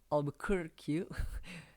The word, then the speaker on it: Albuquerque: Bacanya agak susah, Albuquerque. Nah, terus nggak tahu itu benar apa salah ya cara bacanya. Yang pasti nulisnya kayak gini, Alfonso de Albuquerque gitu. Kan ingat aja barbecue gitu ya.